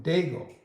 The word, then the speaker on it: Diego: She said it's Martin Diego. Diego is kind of like the H, you just kind of glitz right past it.